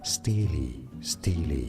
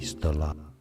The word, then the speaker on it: stele: Steely is how it is said, not Stella.